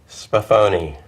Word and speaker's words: Sbaffoni: Sbaffoni.